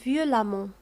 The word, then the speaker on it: violemment: دائما عندما يكون لدينا l'adverbe ينتهي ب 2m ENT فأ التي قبل ننطقها وكأنها أ. إذن violemment ننطق أ وكأنها أ violemment ككلمة évidemment نفس الشيء.